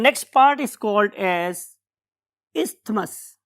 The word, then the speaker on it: isthmus: हूं मैं कि आपने थ को भी याद रखें ताकि आपको टीएच याद रहे, अदरवाइज इट इज इस्थमस। हम उसमें बहुत ज्यादा जोर थे पे नहीं लगा रहे होते, तो इस्थमस इज a true pronunciation.